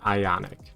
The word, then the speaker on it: IonQ: I pronounce it as Ionic.